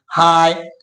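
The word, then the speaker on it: high: अगर किसी वर्ड के लास्ट में जी एच या जी एस टी आई हो तो वहां पे जी एच का उच्चारण नहीं किया जाता।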